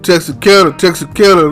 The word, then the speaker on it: Texarkana: I'm Texarkana, man. Texarkana, that's where I stay.